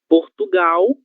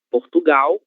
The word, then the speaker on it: Portugal: Temos aqui duas palavras com a letra L no final da sílaba. Se ela está no final da sílaba, ela vai ser lida como se fosse a letra U. Portugal, Brasil.